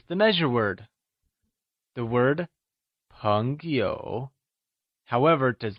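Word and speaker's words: 朋友: In mandarin, Friends translates to Péngyǒu Heres a peculiarity to note! In pinyin, the word p is pronounced with a mixture of the tones p and b Its pronunciation is close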